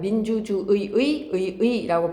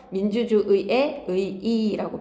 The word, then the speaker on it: 민주주의의 의의: 원칙대로 발음한다면 민주주의의 의의라고 발음해야 되고 허용되는 사항들을 다 적용을 하면 민주주의의 의이라고 발음하시면 됩니다.